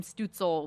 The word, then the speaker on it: Stützle: Tim Stützle with the goal.